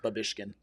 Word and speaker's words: Babischkin: But it's Babishkin. So, B A B I S C H K I N. Babishkin.